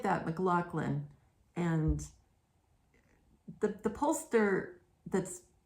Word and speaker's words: McLaughlin: and the poster that's McLaughlin is spelled way differently than he's pronouncing it's more like McLaughlin or something like that um because it's m-c-l-a-u-g-h-l-i-n so you don't you don't pronounce that McLaughlin with the hard you know the C in the middle or ck or whatever Anyway said it like